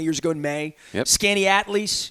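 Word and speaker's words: Skaneateles: Skinny Atlas. Is that how did I pronounce it right? Well, yeah, that's Skinny Atlas.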